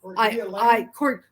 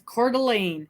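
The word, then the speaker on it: Coeur d'Alene: A ne ne a& people look at that and they go uh I cord and it's cordelan and what's the one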